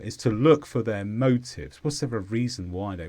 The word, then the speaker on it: motive: is a noun and the stress is on MO motive this means the reason for